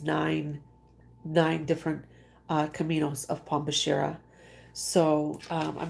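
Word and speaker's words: Pombagira: I missed one what do you know about pom bashira well for one I know that's how her name is pronounced and I also know she also has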